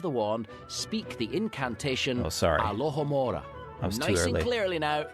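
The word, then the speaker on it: Alohomora: your warand to get it going Alora alohamora lock doors with just a wave of the wand speak the incantation alohamora Clearly Now 3 2 1 Alo hamora excellent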